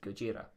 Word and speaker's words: Gojira: Well, because the original name of the band was Godzilla, and they changed it to the Romaji spelling of Godzilla. So the Japanese pronunciation is Gojira.